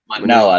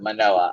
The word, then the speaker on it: Manoah: Manoah, there we go. I have to remember that. Manoah. I like Manoah.